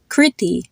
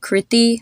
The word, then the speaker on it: Kriti: The first I was short and the second I was long? You can think of it exactly the same way you would pronounce the name Christy, or you would say the word silly or Billy.